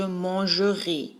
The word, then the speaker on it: mangerai: le son de l'infinitif change un peu parce que le ER se trouve au milieu du mot, ça devient muet. Alors, je mangerai, vous habiterez, par exemple.